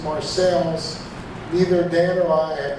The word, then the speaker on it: Marseilles: It's still there, and it's pronounced Marseilles. Neither Dan or I have any idea why. Then as now, local people pronounced it Marseilles.